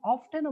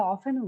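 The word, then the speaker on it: often: প্রায় সময় you have অফটেনও বলো অনেকে উচ্চারণটা অফটেনও করে হ্যাঁ উচ্চারণটা একটু খেয়াল করো অনেকেই অফটেনও বলে এটাকে আমরা অফেনও বলি দুটাই কারেক্ট হ্যাঁ দুটাই কারেক্ট প্রায়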